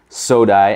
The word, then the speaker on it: SODI: your next order from sodai and apologies to the company if I'm pronouncing the name wrong but I think it's soda it's s-o-d-i of course uh the